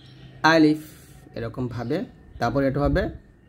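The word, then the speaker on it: ألف: আলিফ এটা আমরা নাকি আলিফ বলি মানে লাস্টে দুইটা ঠোঁট মিল করে ফেলি তো দুই ঠোঁট মিল করবেন না বলবেন আলিফ আলিফ এরকম ভাবে তারপরে এটা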